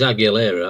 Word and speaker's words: Aguilera: And as we go to the bottom of the first thing, Rick Aguilera will be It is Aguilera. I've tried to I've said it wrong both times now.